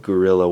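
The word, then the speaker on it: guerrilla: together in something called gorilla Warfare not the ape gorilla it's spelled gu u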